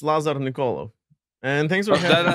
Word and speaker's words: Lazar Nikolov: And we have a special guest this week, and that is Lazar Nikolov. Did I get anywhere close? That was all right. Yeah, it's Lazar Nikolov.